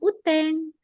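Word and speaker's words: 雨天: Bacanya uteng.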